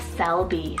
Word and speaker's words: Selby: this one means Eastern town then we have Selby spell s-e-l-b-y Selby it means from the willow